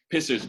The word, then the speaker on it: PSSR: what it was for because it's spelt uh pssr i thought it was a branch of communism i didn't know why he was pisser sorry i've been holding